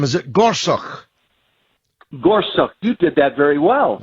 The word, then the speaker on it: Gorsuch: this is why elections matter how do you pronounce his name is it Gorsuch Gorsuch you did that very well well I'm a